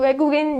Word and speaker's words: 외국인: So 외국인 means foreigner, but this time 왜 is spelled with this way, not this way. So 외국인. Just by memorizing this vocabulary, you instantly learn how this vowel sounds like, right?